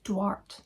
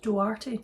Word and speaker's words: Duarte: I'd been saying Jude Duarte. It's Jude Duarte, apparently.